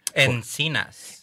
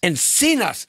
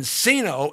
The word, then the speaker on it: Encinas: want to make sure I get the proper pronunciation. Encinas. Encinas. See, I was going to call him Encino, and then I was going to beg for